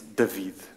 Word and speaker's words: David: And David, if I'm David or David, or how would you pronounce it? In Portuguese it's David. David. But David is okay.